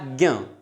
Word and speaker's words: ज्ञ: उच्चारण क्या है इसका? ज्ञ, ना कि क, ख, ग, घ, ड़ नहीं कहला, हमें ज्ञ उच्चारण करना है इसका।